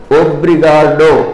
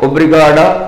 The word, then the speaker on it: Obrigado: For the word thank you, how they will pronounce it? Obrigado, obrigada or obrigado.